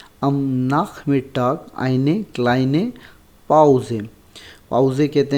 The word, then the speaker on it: Pause: पाउजे कहते हैं, रेस्ट को कहते हैं, मतलब वी यूज़ पाउजे, मतलब काम के लिए भी इस्तेमाल होता है कि भाई पाउजे लिया है मैंने, पाउजे मतलब ब्रेक को कहते हैं।